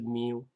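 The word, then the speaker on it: μ: ，就是那它的发音是 mu。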